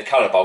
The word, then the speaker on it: Carabao: Rice's free kick was against Chelsea in the Carabao Cup. That's how you pronounce it, by the way.